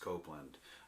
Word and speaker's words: Copland: Copland, pronounced Copland.